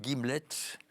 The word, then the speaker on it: gimlet: Donc, nous avons l'honneur d'avoir le titre de votre prochain roman, Deux Guillemets, c'est ça? Deux Gimlets. Un gimlet, ça s'écrit G-I-M-L-E-T.